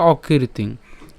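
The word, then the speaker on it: অকীর্তিং: করি এর উচ্চারণ হচ্ছে অকৃতিং এখানে খেয়াল করুন যে রেফটা রয়েছে রেফের উচ্চারণটা আমরা ক দৃহীকারের সাথে উচ্চারণ করব তো ক দীর্ঘিকারের সাথে যদি উচ্চারণ করি তাহলে তার উচ্চারণ কেমন হবে কির হবে ঠিক আছে তাহলে অকৃতিং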